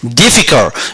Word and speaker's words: difficult: 들어서이가 정리하면 이렇게 됩니다 difficult 여기서 강세가 이렇게 맨 앞에 있습니다 하고 강세가 있고요 어가